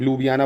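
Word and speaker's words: Ljubljana: क्या है लु बियाना स्पेलिंग थोड़ा देख लीजिएगा मुझे स्पेलिंग का थोड़ा सा डाउट लग रहा है क्योंकि कुछ साइलेंट लु बियाना बोलते हैं वैसे इसको ठीक है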